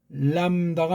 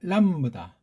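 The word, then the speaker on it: λάμβδα: 그다음 이것도 람다가 아니고 원래 람브다.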